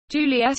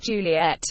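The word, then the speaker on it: Juliett: Juliet is spelled with a TT for French speakers, because they may otherwise treat a single final T as silent.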